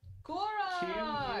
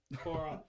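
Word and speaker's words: Quoroc: So 15 is Kor, and then the second syllable for 12 is Ok. Korok. Korok! Q-U-O-R-O-C. Korok.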